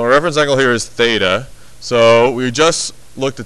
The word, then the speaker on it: theta: reference angle that's theta right there so that's pronounced theta that it's a Greek letter meaning that this